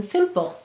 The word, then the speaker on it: simple: The first syllable is sim. S-I-M. The second syllable is pull. P-U. Silent final E. How do we mark it? We'll double underline the E.